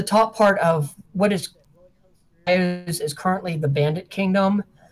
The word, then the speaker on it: Iuz: the Kingdom of Iuz, I-U-Z, us or whatever. My pronunciation is Iuz.